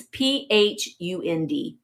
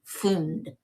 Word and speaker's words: Pfund: And the Pfund, I'm probably saying it wrong. Pfund. It's Phund. Pfund.